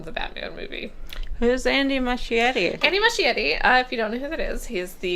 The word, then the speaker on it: Muschietti: And also Andy Muschietti, which I've recently been informed is, I think, how you pronounce it, has promised that we